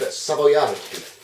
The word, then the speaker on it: Savoiardi: They're like a hard sponge, but the ones you want are these, which are an Italian one, and they are pronounced, I believe, Savoiardi.